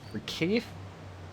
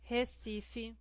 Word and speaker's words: Recife: So now he took Recife. I never remember how to pronounce this one.